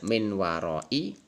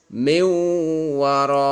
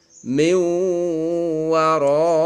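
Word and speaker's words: مِن وَرَاءِ: Nun mati ketemu wawu. Tidak min warai, tapi harus masuk wawu dengan mendengung. Min warai. Ulang. Min warai.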